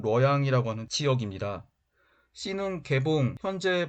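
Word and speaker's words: 洛阳: B는 낙양, 중국어 발음으로는 뤄양이라고 하는 지역입니다.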